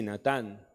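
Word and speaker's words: נָתַן: la número cinco es natán se pronuncia así natán significa poner en marcha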